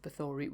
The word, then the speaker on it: Bathory: Now, I must point out that I'm pronouncing it Bathory because that's how I was told it was pronounced, because I'd only ever seen it written down.